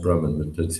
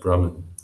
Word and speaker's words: Brahman: brmm by the way that that word is pronounced Brahman just I I detected a note of unsur uh it's pronounced Brahman but early devotees before the days of diacritic